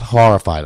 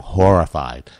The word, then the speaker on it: Horrified: Not Horrified. I'm not saying it wrong. Horrified. Like a whore.